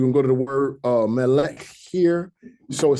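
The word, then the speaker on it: מלך: So we have melech. Instead of saying melecha, if there was a komatz under here, we would say melecha. But if there's a shoe under here, it's closing this last syllable, so you have melech.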